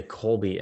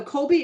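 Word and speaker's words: Kolbe: absolutely so um yes so colby index and that is k-o-l-b-e on many tries spelled with c but it's a k um colby is a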